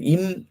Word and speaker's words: இம்: இதை எப்படி நம்ம உச்சரிப்போம்னா ஐ எம் இம். ஐம் இல்ல இம் இம்.